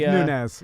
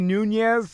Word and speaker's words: Nunes: It could be It's Nunes. Yeah. Nunes. Yeah. I want to say Nunez.